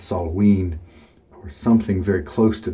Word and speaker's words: Samhain: it smelled Samhain is spelled Samhain but it's pronounced salt ween or something very close to that you can